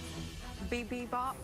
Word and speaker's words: bibimbap: Bibimbap, bibimbap, bibimbap, Beat 'em up. bibimbap. I have no idea. I mean, Sorry, can you tell me how to say it correctly? Bibimbap. Bibimbap. Bibimbap. Even he can't speak I correctly.